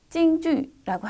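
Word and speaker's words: 京剧: 경극은 중국어로 찡주라고 하는데요.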